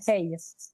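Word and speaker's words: hej: Ça s'écrit H E c'est ça se prononce hey.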